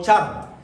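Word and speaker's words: שאר: La expresión remanente tiene su origen en una palabra hebrea que la voy a deletrear, es S-H-R, que se podría pronunciar como char.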